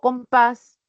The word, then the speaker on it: compás: O compás, recae la mayor fuerza de voz en la última sílaba, termino en S y puedo tildar.